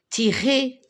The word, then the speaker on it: tirez: Regardez ici, EZ. Alors, je prononce E, R avec E, tirer, R avec E.